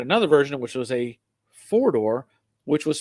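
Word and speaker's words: Fordor: doors they had another version which was a four-door which was spelled f-o-r-d-o-r so this is a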